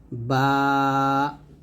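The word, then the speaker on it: ب: আলিফ আলিফ এরকম ভাবে বা টা দুই ঠোঁট মিল করে আমরা বা টা নরম ভাবে উচ্চারণ করব বা বা দুই ঠোঁট মিল হবে দুই ঠোঁট মিল করে নরম করে পাতলা করে উচ্চারণ করব বা তা জিহ্বার আগার সামনের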